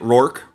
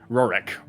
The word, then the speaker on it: Rorik: Is that how you say it? Rourke or Rorik? Rorik.